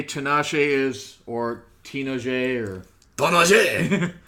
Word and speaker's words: Tinashe: Tinashe! Say it like Ganache. Tanache.